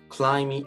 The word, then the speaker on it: climb: M 다음에 B가 나올 경우 이때 B가 묵음일 때가 있는데요. 대표적인 예로는 밤과 climb이 있습니다.